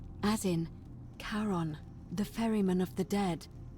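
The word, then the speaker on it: Charon: it's just as you described it, only your pronunciation is a little off. The name you heard wasn't Karen. It was C H. I knew it. O N. As in Karon, the fairyman of the dead.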